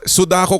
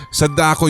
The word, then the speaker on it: Sadako: jinoke nakakabwisit Sadako paraon Hindi sudako kasi sinabi niya dito Sadako yun or di ba meron pa ngang nagsabi sa akin ng pronunciation daw dapat is sad ako sabi niya parang sad ako parang ganon So yun